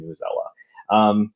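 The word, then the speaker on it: Newsela: So I've actually in the past, I think Newzella, that's actually how the official site, that's how they say it. I have heard a lot of people recently calling it Newzella. So whatever way you say it, but I think officially it is Newzella.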